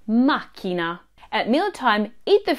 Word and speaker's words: macchina: Buon Giorno it's not makina put the stress on Ma makina at Meal Time eat